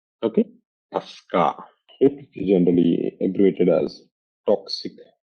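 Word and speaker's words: TSCA: is Pasa okay TCA Tusa means tuska it is spelled as t s c a okay tuska is generally inated as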